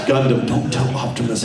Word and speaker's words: Gundam: But anyway, Peter Cullen back in the day, you hear him just mispronounce everything. It's like, coming up on Gundam Wing. It's Gundam.